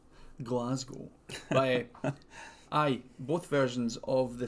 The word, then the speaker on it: Glasgow: But you said Glasgow weird. Glasgow, yeah. Say it like the famous Scottish wrestler Drew. Glasgow.